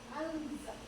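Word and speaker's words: أنزل: Kemudian cara membacanya samar-samar untuk membentuk za, ya.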